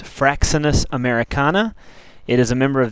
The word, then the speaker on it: Fraxinus americana: white ash the scientific name is pronounced fraxinus americana it is a member of the Olli ACA